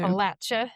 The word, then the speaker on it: Appalachia: Currently, I'm in the foothills of Appalachia. Make sure I say that right. I never do. Appalachia.